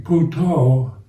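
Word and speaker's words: Buddho: So in Luang Por Cha's approach to mindfulness is using Puto, the Thai kind of pronunciation for Buddha, a kind of mantra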